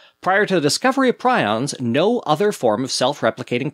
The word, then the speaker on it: prion: The hypothetical protein is called a prion, pronounced prion. Wrong. With apologies to Dr. Prusiner, I'm probably going to continue calling these things prions, not prions, because that's literally the only way I've ever heard it pronounced.